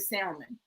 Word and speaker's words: salmon: Now, mind you, have you ever, when you guys ate meat, or even like a piece of salmon or salmon, okay? The L is silent.